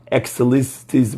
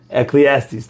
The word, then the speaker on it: Ecclesiastes: Excellistes, but I don't know how to pronounce it, so I'll just... Ecclesiastes, thank you.